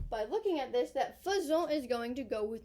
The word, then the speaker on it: faisons: Nous faisons, kind of sounds like fuzzy. Faisons.